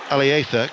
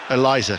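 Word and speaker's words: Eliezer: to uh Eliza Mayenda, who actually pronounces his name Alither with him being from Spain. But we're going to go with the the Sunderland version of Eliza cuz that's what the locals have been calling him ever since he arrived.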